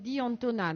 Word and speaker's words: D'Antona: Il s'appelle D'Antona, donc ça s'écrit D-I plus loin A-N-T-O-N-A pour ceux qui cherchent.